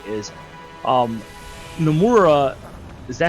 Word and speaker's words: Nomura: But to me, what's worrisome, I guess you can say, is Nomura. Is that how you pronounce his name? Yeah, Tetsuya Nomura.